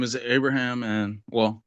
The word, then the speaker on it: Abraham: My name is Abraham, and well, to pronounce it right, it's Abraham.